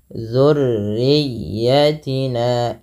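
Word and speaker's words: ذُرِّيَّتِنَا: Wa min dzurriyyatina, ya, dzurriyyatina, hati-hati jangan dibaca zu, ya, tapi dia huruf zal kecil. Kemudian tekan pada lafal huruf ya, jangan hanya sekedar dzurriyyatina gitu ya, tapi jangan dzurriyyatina, tapi tekan ya-nya dzurriyyatina, dan dia ya itu huruf lin yang dimana ditekannya dengan lembut.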